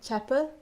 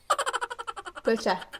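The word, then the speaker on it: བོད་ཇ: What is tea? Cha. What is Tibetan? Tibetan. Puh. Right. Combine those two now? Chapa. Bhocha. Yeah.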